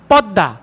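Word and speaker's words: পদ্মা: অফটেন উচ্চারণে অফেন তাই বাংলায় লেখার সময় পদমা উচ্চারণে পদ্দা লেখার সময় বিস্ময় উচ্চারণে বিষময় লেখার সময় গৃষ্ম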